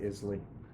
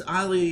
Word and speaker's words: Islay: It's an Islay Scotch. I don't remember the name of the... A what? Islay? Isla or Islay, or I think Isla is the way the Scottish pronounce it. Go with Islay.